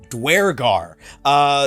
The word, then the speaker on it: Duergar: the game, small spoiler, they pronounce it the way that I always did, Duergar.